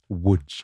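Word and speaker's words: Łódź: I think Lods is how you pronounce it, don't I? I think not, Tom. Wood.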